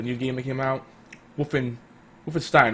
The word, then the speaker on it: Wolfenstein: Wolfenstein, right? Yeah, Wolfenstein. That's the proper way to say it.